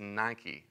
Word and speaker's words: Nike: The word for conqueror is Nike. It's actually pronounced Nikki.